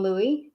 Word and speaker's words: Louis: xiv was not big king louie which is how you say louis in french was a shrimp look